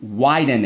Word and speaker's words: widen: width we have to widen it okay no it's not width in its widen okay so let's go why den widen first syllable why nothing to do with Wi-Fi second syllable den how do we mark